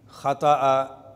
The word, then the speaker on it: خطأ: لفظ ہے خطا۔ تو اس کے مختلف تلفظ ہیں عربی زبان میں۔ خطأ یخطئ بھی، خطیئہ یخطئ بھی پڑھا جاتا ہے، اخطأ یخطئ بھی۔ الخطأ والخطؤ یہ لغوی طور پر اس کے پڑھنے کے انداز ہیں، اسالیب ہیں۔ مختصراً یہ ہے